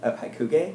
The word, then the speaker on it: Hakugei: How do you pronounce that? Wait, The name of the ride? Hakugei? Hakugei.